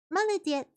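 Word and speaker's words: молодец: Maladets means well done. Oh, there we go. Malett means well done. Oh, I know that one. Malett.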